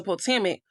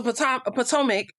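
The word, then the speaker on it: Potomac: No offense, but the house of house was a potamic potamic. The house was a Why am I saying it wrong all of a sudden? But the house was a ptoic. Yeah, I said it right.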